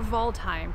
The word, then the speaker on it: Waldheim: Today we are in Waldheim Cemetery, or Waldheim for the German pronunciation.